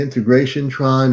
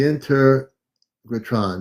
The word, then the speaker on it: Integratron: The integration tron, or I'm not pronouncing it right.